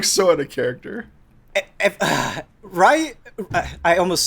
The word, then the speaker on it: Ryu: Ryu, it like stood out to me because it's Ryu.